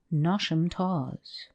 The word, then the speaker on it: Knotacentinum: But the scene of this narrative is laid in the south of England, and takes place in and around Knotacentinum Towers, pronounced as if written Nosham Taws, the seat of Lord Knottacent, pronounced as if written Nosh.